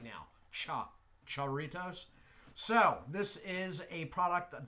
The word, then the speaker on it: Jarritos: Believe I am pronouncing that right now. Jarritos.